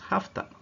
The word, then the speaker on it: have to: a meeting tonight note have to this model is usually pronounced hafta and has to is usually pronounced hosta why I'm explaining you